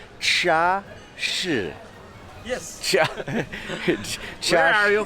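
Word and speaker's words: 茶室: And I was asking this gentleman how you pronounce it, so it's Cha Shi.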